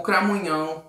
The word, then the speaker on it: Cramunhão: Que são, em primeiro lugar, para quem não sabe, o Cramunhão ou Cramulhão, né? As duas pronúncias estão corretas.